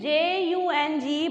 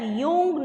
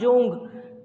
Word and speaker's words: Jung: This is J-U-N-G, but it is pronounced as Jung, not Jung. This is Jung.